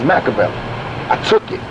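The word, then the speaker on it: Makaveli: my name is not machiavelli my name is macavelli i took it right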